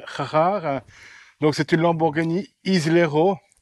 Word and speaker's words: Islero: Donc c'est une Lamborghini Islero S. Et non pas Ilero, parce que j'ai dit Ilero, je me suis fait gronder. Oui. On dit Islero.